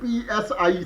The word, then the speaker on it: psi: i meaning Phi and another similar constant was p s i PSI okay but that PSI was enough different